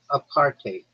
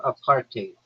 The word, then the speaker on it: apartheid: It's pronounced apartate or apartate with a bit of a Dutch style hive at the end like height with a D.